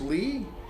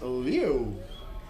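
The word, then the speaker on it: Liu: It is not pronounced Lee. Number seven is Leo. Leo, the left fielder for Taiwan. Ching Yu Leo, not Lee.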